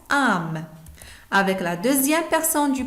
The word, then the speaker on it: âmes: Avec la première personne du pluriel, on met A circonflexe, MES, et ça se prononce âme.